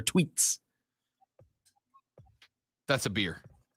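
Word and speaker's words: Twheats: here the tea wheats it's spelled t w h e a t s the t wheats but it's pronounced i'm sure tweets that's a beer right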